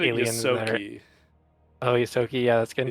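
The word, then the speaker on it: Ysoki: I'm not sure how to pronounce it. These are all like I said aliens. Yosoki.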